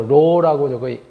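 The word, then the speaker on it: ρ: 설명을 드렸었지만 지난 시간에 혹은 그리스 문자로써요 우리가 통상적으로 물리라든가 또는 공항이라든가 이런 데서 로우라고 읽게 되는데요 밀도를 저렇게 약자로 표현하는데요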